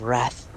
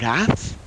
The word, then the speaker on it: Rath: DM, that's spelled like the word wrath? Yes, just without the W.